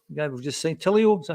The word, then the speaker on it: Tilio: But the new guy being injured, the guy we've just signed, Tilio, is that how you pronounce that?